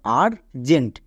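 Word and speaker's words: urgent: টো মানে আর জেন্ট তাহলে ইউ এর পরে যদি আর থাকে তখন আমরা ইউ এর জন্য আকার সাউন্ড করবো যেমন আর জেন্ট এখানে ইউ এর পরে আর আছে তাই আকার সাউন্ড করলাম এবার দেখো টার্ন এখানেও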